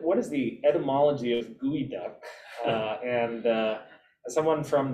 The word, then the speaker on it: geoduck: is the etymology of gooey duck uh and uh someone from the eastern hemisphere where these guys don't exist uh i've always when i first encountered the term i pronounced it geoduck uh so i'm just